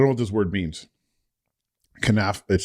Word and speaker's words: Knafeh: Kanaf. It's spelled Knafeh. Kanafi.